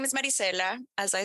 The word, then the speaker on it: Maricela: with us today now I've got with us Maricella and I know I haven't pronounced that properly so I'm going to ask you to please help me out how do you pronounce it of course it's Maricela I like that that's that's not okay yes